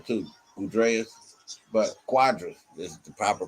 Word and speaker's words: Cuadras: the same sting from cadres cuadras they say cuadras then the squadrous i mean i guess it is i i didn't know they would have pronounced it like that i'd have been like q dress or goodreads that would have been better than what i